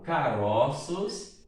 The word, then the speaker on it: caroços: Se eu falo caroço, olha só, O fechado. Mas se eu falo caroços, veja que o O é aberto. Dá a impressão de que tivesse aí um acento agudo, né?